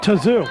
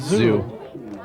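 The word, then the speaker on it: Tzou: T-Z-O-U. You pronounce it any way you want it. Tazoo. Conan. I'm going with Zoo.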